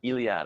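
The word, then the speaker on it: Eliade: title here yes uh no it's more of iliad i guess it's once again he's french i can't pronounce his name it's e-l-i-a-d-e e-l-i-a-d-e and he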